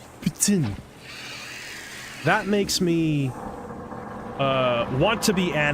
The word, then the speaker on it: poutine: Is when some ass corrects me and says, "You don't say it poutine, it's pronounced poutine."